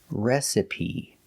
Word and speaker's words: recipe: So the first syllable is a short E, like red and bed, re. Si. The second syllable is a short sound, I, like this is, reci. And the last is P, like green beans, recipe. The stress is on the first syllable, recipe, recipe.